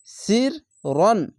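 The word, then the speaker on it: سِرًّا: জায়গা নাই তার জন্য র আলিফ দুই জবর রন এভাবে উচ্চারণ হবে সির রন সির রন সিন র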